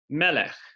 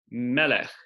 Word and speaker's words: melech: And so we might have a word like melech, melech, which means king. And here, the accent indicated by this little sign is over our meme at the very beginning.